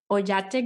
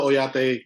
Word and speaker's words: Oyate: you do at the ojate group and correct me if I'm not pronouncing it right no oyate um you're spot on with the pronunciation so I am the